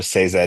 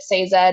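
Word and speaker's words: Sazed: it up and apparently Sanderson himself has come out and said it's supposed to be a two syllable word say and Zed uh so say Zed is is the way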